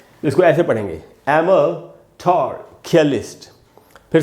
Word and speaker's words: amatorculist: ए के बाद म है और म के बाद आधा अ है, यानी म पर थोड़ी देर के लिए रुकना है।